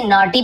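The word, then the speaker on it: naughty: नॉटी यानी होता है शरारती, बहुत नॉटी है पता है भाई ना, नॉटी यानी शरारती, इसे नॉटी पढ़ेंगे, जी साइलेंट होता है।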